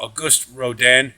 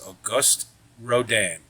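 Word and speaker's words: Auguste Rodin: horses in this uh this year's rendering uh August Roden and uh please note that is the correct pronunciation he's the sculptor of The Thinker if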